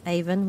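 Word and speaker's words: Avon: there and started down Glenn Haven which is pronounced Glennon by the river aen which is nothing like statford on aen complete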